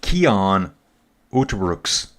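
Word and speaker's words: Cian Uijtdebroeks: So Fab saying it's pronounced Kian Uterbrooks. UI is an ow sound in the Netherlands. Don't ask me why they pronounce their vowels this way.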